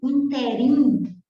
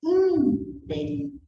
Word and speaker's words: ínterim: Não é interim, é interim. É a antepenúltima sílaba que é mais forte.